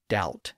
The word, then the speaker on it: doubt: So here, Holofernes is saying that the B should be pronounced in words like doubt and debt. Now, as we saw in an earlier episode, the B was added to those words by English scholars in the 1500s to indicate that they each had a B sound in Latin. but neither of those words were ever pronounced with a B sound in English.